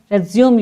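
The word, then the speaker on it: résumé: Spelling दोनों की same होगी, रेज्यूम और रेज्यूमे।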